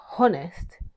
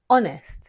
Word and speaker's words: honest: Don't say honest, say honest.